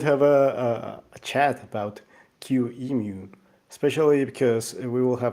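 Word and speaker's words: QEMU: a a chat about Q emu especially because we will have a discussion about the naming is it anymore we don't know how to pronounce yeah it's basically emulation so Q Amu but yeah yeah and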